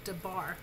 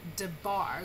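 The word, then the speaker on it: דבר: And most Hebrew words are accented or stressed on the last syllable, as in the word debar. The bar is where you get your heavy accent there.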